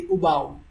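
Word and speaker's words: उबाऊ: Boring in Hindi, we say ubaaooo, right? Oo is a lengthier one. Ubaaooo, right? Ubaaooo. Oo is lengthier, right?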